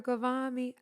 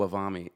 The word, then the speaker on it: Ghavami: mispronounces my name. I think he thinks I'm Arabic Really? because How he does goes he- Wavami. So he says it as if I'm Arabic.